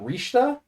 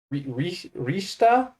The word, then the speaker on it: Richter: don't know why but they're pronounced differently rather than Simon and Richter I believe it is Simone and rishta Rista yeah so there you